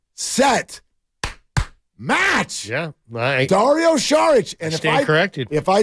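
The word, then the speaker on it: Šarić: the Sixers yes he changed the way you pronounced his name from sarich to shich in the like the middle of midd season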